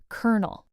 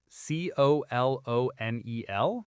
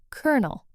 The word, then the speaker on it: colonel: But the actual pronunciation is kernel, like the kernel of popcorn.